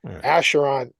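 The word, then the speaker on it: Acheron: Asheron.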